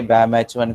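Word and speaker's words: BamHI: okay, सो जैसे ये pronunciation में हम लोग नहीं जाते, तो जैसे बैम H1 को बैम H1 बोला जाता है, ये BGL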